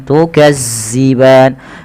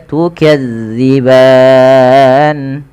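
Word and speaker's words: تكذبان: Fabiayyi alaibbikuma rbikuma ma mad thabi'i fathah bertemu alif tukadziban dza hati-hati jangan tertukar dengan huruf zai ya jangan dibaca dengan tukazziban tapi dia tukadziban lafal ban ini sama dengan yaitu bacaan rum ada mad arid di sukun.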